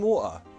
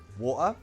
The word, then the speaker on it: water: Oh, hi, sorry, can we have some water? Water? Water. Water. Water. Water. Water. Water. In British pronunciation, it's really common to replace the T sound in some words to a glottal T.